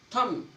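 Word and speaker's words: thumb: जब एम के बाद बी आए, जब एम के बाद बी आए, जब भी एम के बाद बी आओगा तो आपका बी साइलेंट होगा। टूम, लिम, थम, देखो इसमें एम के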